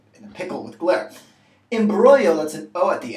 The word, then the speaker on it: imbroglio: bit more common and it's actually related to imbroglio and notice this is not pronounced in broccoli so what does it mean